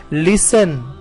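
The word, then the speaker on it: listen: इसे रीड करते हैं तो हम कहते हैं लिस्टन लिस्टन मिट्टी साइलेंट होता है और लास्ट वर्ड है हाउ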